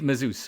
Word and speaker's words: Mazouz: So, Davidid Mus, first of all, am I pronouncing your name correctly?